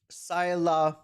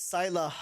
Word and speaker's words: Saileach: Saileach, but it's Saileach because Japanese pronunciation got the A after H. So, no ha, just Saileach. Saileach. And then like a semi-silent H.